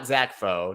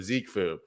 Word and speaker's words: Zekefu: bije i can't read zeke foe not zakfo not zakfu zeke foo oh plus follow also